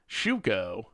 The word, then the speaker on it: Shuko: be over the top shuko rhymes with Nan Tuco oh see I'm saying it right then right shuko nantuko